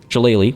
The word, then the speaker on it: Shillelagh: If I use Shillelagh, which I've been told is being pronounced decently, so thank you.